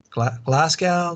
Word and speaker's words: Glasgow: city is classic i don't know how to pronounce that city i'm not british glasgow glasgow the the g the g city